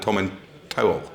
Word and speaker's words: Tomintoul: brought some of the third, is Glencadam and Tomintoul. Indeed, yeah, well done.